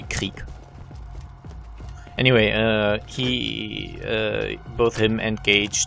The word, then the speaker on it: Krieg: I pronounce him Krieg because it's basically the German word for war, and that's why I pronounce it in a very German way. I guess the English pronunciation would be Krieg or something, but it's actually Krieg.